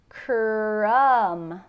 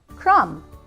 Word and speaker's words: crumb: turn to mush lam remember the B is silent crumb crumb numb like your foot